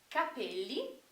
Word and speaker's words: capelli: quer dizer chapéus tá percebam como a diferença na ênfase da pronúncia muda totalmente o significado então Capele quer dizer cabelo e